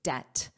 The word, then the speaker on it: debt: Notice the pronunciation here that B is silent, so it's debt debt debt.